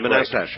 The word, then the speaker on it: Manastash: How do you pronounce the name of your town, Manastash? Monastash. Monastash. Right.